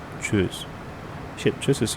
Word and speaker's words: Tschüss: Tschüss. That's right. Hi and bye is tschüss. Tschüss. O umlaut is O and you say you. And U umlaut is you and say U. I mean E. Tschüss.